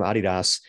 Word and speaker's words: adidas: from a guy from adidas uh and by the way i say it that way because i'm special um it's actually because that's how they say it in europe because it's that's the